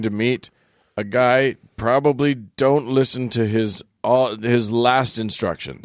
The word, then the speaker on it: Do: So You're going to meet a guy, probably don't listen to his last instructions.